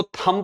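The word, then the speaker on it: thumb: थंब इसको थंब पढ़ना है। बी तक जाना ही नहीं है। थंब बी साइलेंट रखना है।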